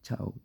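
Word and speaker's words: ciao: So C I A O will be cow. Okay. But the C is silent.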